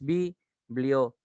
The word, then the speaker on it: biblioteca: Tienes biblioteca. Como te das cuenta, la T es la que lleva la mayor intensidad, es decir, es la más fuerte de todas las demás sílabas.